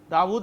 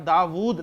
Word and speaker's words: Dawood: लेकिन जब जाहिर बात है कि हरकत वगैरह नहीं होंगी तो फिर दाऊद ऐसे लिखा जाएगा, दाऊदू नहीं पढ़ेंगे आप, दाऊद लंबा करके पढ़ते हैं आप।